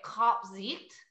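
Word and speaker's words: Kaapzicht: So it's Dutch. So they would say Kapzicht. Kapzicht. Okay. Kapzicht. I just say Kapzicht. I'm from Kapzicht. Long Island. There's no, like, it's just Kapzicht for me.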